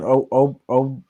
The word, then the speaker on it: Okoro: Okoro.